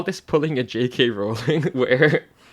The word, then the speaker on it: Rowling: Also, yeah, just to be clear, her name is pronounced like Rowling, not Rowling.